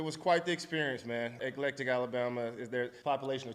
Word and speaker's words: Eclectic: say it how it looks let's talk about Electic is it Electic or electric Alabama can you talk about how do you pronounce it eclectic ectic you got that Josh how do you